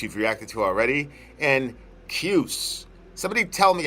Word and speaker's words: Kyuss: Kyuss is how you would pronounce it.